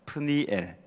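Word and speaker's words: פְּנִיאֵל: 사실 이브니엘은 히브리어로 보면은 프니엘이라고 발음을 할 수 있습니다. 프니엘.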